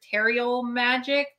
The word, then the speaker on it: Terial Magic: heavy um it's called I think it's pronounced ter teral magic it's in the description